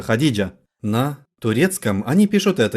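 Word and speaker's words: Hatice: Я бы сказал «Хатис», произнося это. Нет, на самом деле Хадиджа.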